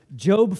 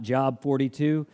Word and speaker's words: Job: today we're eventually going to end up in Jobe 42 Jobe 42 if you look at in your Bible and it looks like job we don't pronounce it that's not job 42 maybe that's what you do that's job number